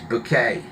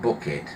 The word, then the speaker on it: Bucket: Um, and it says it's bouquet, not bucket. It's spelled bucket.